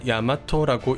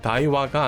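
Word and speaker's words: 大和: 앞에 큰 대자를 붙여 이걸 야마토라고 읽게 됩니다이 한자를 읽을 때는 대화 혹은 다이와가 아닌 뜻을 보고 읽는 방법인 훈독을 해야 해요 그래서 야마토라고 읽게 되는 거죠 때는 701년 외나라는 다이어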